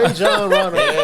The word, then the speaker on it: Rajon Rondo: Rajon Rondo.